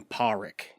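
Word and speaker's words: Pádraic: but they call him paric like the D is silent Patrick it's it's kind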